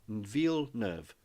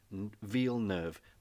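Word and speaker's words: Villeneuve: can't pronounce v nerve it's French it's as in v e for Village nerve as in sort of new so New Village ve nerve rhymes with wheel rhymes with Verve ve nerve that's all you have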